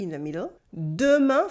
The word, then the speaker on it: demain: Demain for tomorrow is said demain, demain, demain. Again, we don't say the E in the middle.